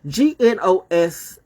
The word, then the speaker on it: gnosis: words I'm uh people g-n-o-s-i-s please welcome to that word and learn how to spell it right I mean learn how to say it right it's Gnostic gnosis or whatever not good